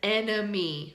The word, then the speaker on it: enemy: practice on the word enemy, right? An enemy is the opposite of a friend, someone you fight with, you know, opposite of a friend. So let's start with what syllable is stressed in the word enemy?